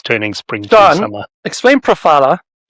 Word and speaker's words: Profila: My guest today is Shawn Jensen, founder and CEO of Profila. I was going to say it right and I forgot. How do we say it? Profila. Profila's cool too, but Profila, it's your profile.